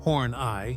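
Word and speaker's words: Horneigh: another of his characters Tyrone F horn pronounced horn ey was a creepy old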